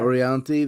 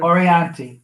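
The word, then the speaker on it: Orianthi: We're seeing Ornthi. I'm not going to pronounce her name wrong all the time. Orianti, the guitar player. Orianti.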